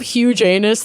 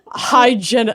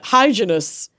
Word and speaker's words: Hyginus: and I don't think this is how you pronounce their name, but this is how I'm going to say it. Hyginus. Pope Hugenus the Fourth. Huginus. Huginus Aquinas. Vaginus. Dentitis. Rewindus. Rewindus. It's Hyginus. Hyginus.